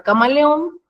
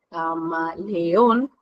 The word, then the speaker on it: camaleón: tónica en la palabra Camaleón Camaleón porque así se separ en sílabas en la última sílaba es donde se carga la voz o donde se pronuncia